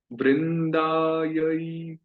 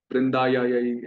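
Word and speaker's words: वृन्दायै: आपने नोटिस किया होगा, कई भक्त कभी कभी इसमें बहुत स्ट्रगल करते हैं उच्चारण करने में, इस ऐ को। एक वृंदावन में मैं रहता हूँ, तो यहाँ पर वृंदा या यही ऐसे दो तीन बार बोल देते हैं उसको। कई मैं भक्त नोटिस करता हूँ जो थोड़ा स्ट्रगल करते, संघर्ष करते हैं इसको उच्चारण में। पर वृंदा यही, देव्यई, प्रिया यही, सत्यवत्यै, ऐ। तो वो ऐ का उच्चारण आना चाहिए, ऐ।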